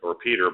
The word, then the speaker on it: Petr: There's a Czech pastor named Peter by American pronunciation, Petr Jášek, who was held in a Sudanese prison for giving aid to Christian minority communities in Sudan.